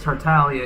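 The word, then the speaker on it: Tartaglia: up did you know tartarius pronounced as tartalia even though people pronounce it to our tag oh yeah yeah I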